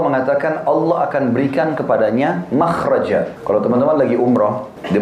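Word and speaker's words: مخرج: ya bahasa Arabnya itu mim Kha ra Jim bacanya makhraj Kenapa digunakan kalimat itu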